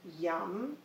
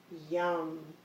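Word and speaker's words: yam: heart space along with the speed mantra which is pronounced YUM and I thought I'd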